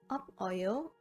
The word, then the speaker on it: 없어요: 없어요 is pronounced as 없어요.